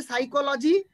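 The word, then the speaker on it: psychology: বলে দিই তোমরা শুনে নাও মনোবিদ্যা মানে হচ্ছে সাইকোলজি আমরা যদি ঠিক করে বানান করতে যাই তাহলে আমাদেরকে লিখতে হবে পিসি চলো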